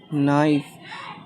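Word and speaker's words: knife: के के बाद हमेशा याद रखना के बाद अगर आपको कभी भी एन आ जाए एन सॉरी अगर एन आ जाए तो के साइलेंट रहेगा जैसे के के बाद एन है तो के साइलेंट हो जाएगा तो हम पढ़ेंगे इसे नो नॉट ठीक नॉट नाइफ तो ये के साइलेंट रहेगा तो बहुत ही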